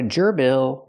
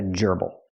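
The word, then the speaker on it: gerbil: it's not a hamster it's a Geral not a Gerel but a Geral the stresses on the first syllable this is a gerbal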